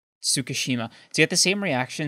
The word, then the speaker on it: Tsukishima: Like, to get the same reaction out of Ichigo that Tsukimichi... How do you say it again? Sorry. Tsukishima.